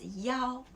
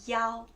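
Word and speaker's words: 幺: It's "yao". When you say the number, like the phone number, and also the number of your room, we will say "yao", okay?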